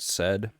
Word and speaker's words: sed: it a said pattern said it's spelled sed so first you give